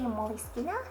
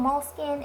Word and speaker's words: Moleskine: a Starbucks moleskin weekly I've heard people say moly skeena and they always seem to say that with confidence so I think that's the correct pronunciation but I'm used to saying moleskin and any time I try to say moist ena I get tongue-tied so I'm just gonna